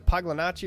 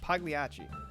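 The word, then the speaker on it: Pagliacci: I I thought it was Paglanachi or Paganucci or something like that. Pagliachi.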